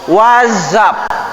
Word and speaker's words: WhatsApp: Itu dibacanya bukan, kalau dalam bahasa Inggris dibacanya bukan WhatsApp, tapi WhatsApp pakai Z.